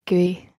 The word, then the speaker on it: GUI: O window systems, or graphical user interfaces, GUIs, pronounced GUI.